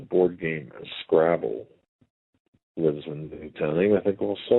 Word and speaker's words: Newtown: with a secondary place out of Newton, Connecticut. It's only a town of 2,000 people. We have to keep... Newtown, sorry. Newtown. We have to make sure we pronounce that right.